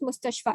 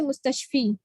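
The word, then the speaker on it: مستشفى: This is pronounced mustashfa. Even though there's a ya, there are no dots on this ya. So we will not say mustashfi. Okay, we will say mustashfa.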